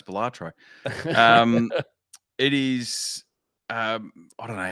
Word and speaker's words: Balatro: No, see, it's funny because I keep thinking it's Balastro for some reason. And I have to keep looking at no, it's Balatro.